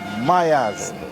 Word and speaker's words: Myaz: The artist name is Myaz, M-Y-A-Z. Yes. How that? Spell it.